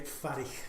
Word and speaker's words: Fairich: Correct pronunciation? Farich. Farich, okay.